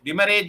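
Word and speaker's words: demurrage: marriage so the the some people may pronounce as a damage it's a the right pronunciation is marriage is charges additional charges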